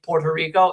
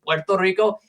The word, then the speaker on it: Puerto Rico: The reason why you say why Americans say Puerto Rico instead of the proper pronunciation Puerto Rico is because they actually changed the spelling to be with 2 O's because they just were too lazy to pronounce it.